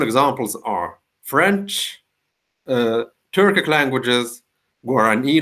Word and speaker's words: Guarani: Well-known examples are French, Turkic languages, Guarani language is also an example of language with a stress on the final syllable, and not surprisingly, in